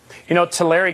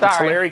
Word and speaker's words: Tulare: Tulare County is how it's pronounced, actually, but Tulare County, that's fine.